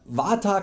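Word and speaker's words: वात: Die korrekte Aussprache wäre Vata, Kapha und Pitta. Aber ja, ich nenne sie einfach weiter Vata, Kapha und Pitta, weil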